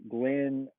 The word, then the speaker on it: glandulopexy: if I want to have that operation, the glandopexy. I'm gonna actually pull up my notes to see if I'm pronouncing that correctly. And that he can do it if needed. And basically, glandulopexy, glandulopexy is how you pronounce it.